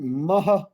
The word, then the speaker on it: महः: सामवेद पुरुषं तर्पयामि ओम मह मह मह मह फिर विसर्ग का उच्चारण मह मह अथर्ववेद पुरुषं तर्पयामि ओम महः अथर्ववेद पुरुषं तर्पयामि ओम